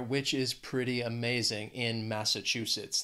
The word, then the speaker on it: Massachusetts: is pretty amazing in Massachusetts they also have four syllables and the stress is on that third syllable that chew Massachusetts when I think of